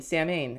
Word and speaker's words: Samhain: ends, Bosses Day, Halloween, Samhain, or Samhain, it's pronounced Samhain, right?